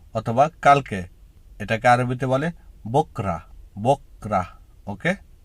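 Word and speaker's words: بكرة: শব্দ হলো কাল অথবা কালকে এটাকে আরবিতে বলে বকরা বকরা ওকে উচ্চারণটা হবে বকরা আমাদের বিপরীত শব্দের একেবারে শেষ দুটো শব্দ হলো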